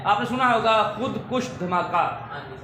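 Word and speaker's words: خودکش: तो लफ्ज़ है खुदकुश। लफ्ज़ क्या है? हाँ, खुदकश गलत है, खुदकश गलत, खुदकुश दुरुस्त।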